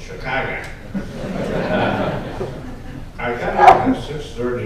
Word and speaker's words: Chicago: That's how you pronounce it, by the way. With AH, I'm yes, it's not Chicago, it's Chicago.